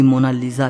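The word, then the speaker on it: Mona Lisa: सही स्पेलिंग यह है कोई इसे मोना लिसा कहता है तो कोई मोना लीजा कहता है लेकिन इटालियन में इसकी करेक्ट प्रनंसीएशन है मोनालीसा इसका मतलब होता है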